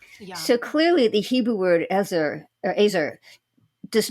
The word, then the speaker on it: ezer: the in the Hebrew the word is e-z-e-r it's pronounced azer and it's used most